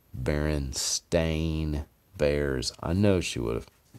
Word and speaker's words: Berenstain: i'm not my mom didn't mispronounce it and say stein instead of stain i promise you if she had read it and it said s-t-a-i-n she would have said baron stain bears i know she